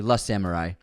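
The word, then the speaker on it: Le Samouraï: Slim Shady on penguin episode Le in is pronounced like l in French so it's actually L Samurai just a friendly heads up also unsubscribed thank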